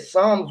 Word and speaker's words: Psalms: now the brother said Psalms was a spell because the p is silent all right the p